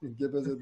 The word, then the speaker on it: Gebezedeş: doğru telaffuzu öyle de. Gebezedeş.